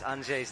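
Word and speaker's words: Anže: So Anje? I think you've said it more or less correctly. Anje. There's a Z on his Z, so there's like a tick, as on my Z in Stasha.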